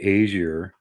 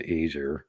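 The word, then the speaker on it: Æsir: branches to it apparently the asier which yes it's the same pronunciation as the Norse gods the aier and kind of the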